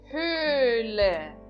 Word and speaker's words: Höhle: Próximo exemplo, Höhle. Höhle. Höhle. Então eu estou pronunciando o primeiro H novamente desta palavra, mas eu não estou pronunciando o segundo H dessa palavra.